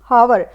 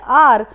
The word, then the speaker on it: hour: खुद से रीड करेगा, तो वो प्रोनाउंस करेगा इसको हावर। लेकिन इसको हम क्या बोलते हैं, इसको हम बोलते हैं आर।